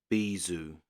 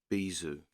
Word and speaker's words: bijou: See if it says how it's pronounced. Bijou. Bijou.